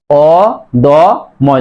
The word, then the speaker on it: অদম্য: দেখো জ ফলা আছে, মর সাথে জ ফলা থাকার কারণেই এই দর সাথে ওকার হবে, তাহলে অদম্য, অদম্য।